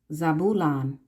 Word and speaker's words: Zebulon: Zebulon is how you pronounce it, is the ships.